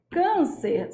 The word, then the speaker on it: câncer: não tem nem como ó câncer só tem duas sílabas não tem como ser proparoxitona ó é ccer é uma paroxítona terminada em R isso aqui é um